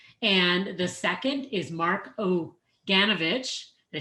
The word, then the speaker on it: Oganovich: The first is Mohammed Abunada, and the second is Mark Oganovich.